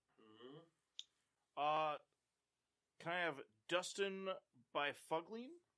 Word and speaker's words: Byfuglien: can I have Dustin Byfuglien? Bufflin. I knew he wasn't going to fall. How do you get that pronunciation from all those letters?